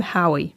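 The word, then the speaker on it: Haüy: So this next part, there's a tricky French name, and I'm going to Americanize the pronunciation. The guy's name is actually Valentin Hauy, and that last name is spelled H-A-U-Y.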